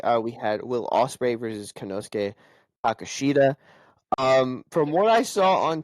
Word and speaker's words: Konosuke Takeshita: Yes, Konosuke Takeshita.